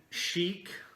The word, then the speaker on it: Chic: Pink Chic. I think. She might pronounce it chick, but it's spelled chic.